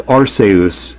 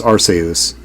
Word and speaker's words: Arceus: So, I know it's Arus because in Japanese it's Arsus.